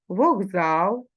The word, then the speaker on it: вокзал: боротьба з буквою т як ми вимовляємо вокзал перевіряємо за словником це словникове слово і пишемо вокзал з буквою к зверни увагу на вимову